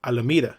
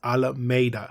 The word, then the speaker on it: Alameda: An example was the way they said Alameda, which is the present pronunciation of the city, but back in the day, it was pronounced Alameda.